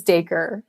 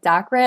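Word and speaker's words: Dacre: A lot of people do call it like Dakra. I mean, that's how it looks. And I kind of when I came across that name, it's like the word acre with a D.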